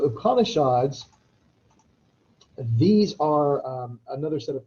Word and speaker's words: Upanishads: to go ahead and hit the pronunciation on this one just because upon a shots so upanishads these are another set